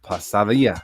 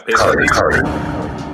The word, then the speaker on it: pesadilla: Well, it sounds like it's a pasadilla. Is that how you say it? Yeah, pesadilla.